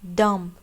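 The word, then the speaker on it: dumb: डम्ब, B silent है, बी की आवाज़ नहीं आएगी।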